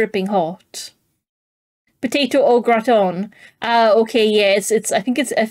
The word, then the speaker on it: gratin: Okay, yeah, I think it's a gratin that I've had. Yeah, because we call it gratin in the UK, which I'm pretty sure is not how it's supposed to be pronounced.